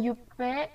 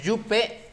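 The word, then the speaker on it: jupe: Y un casquet, un t-shirt y un yupe et de sandales. Bien, très bien. Hay un error ahí. En el yupe, acuérdate que es yup, porque la E no se pronuncia.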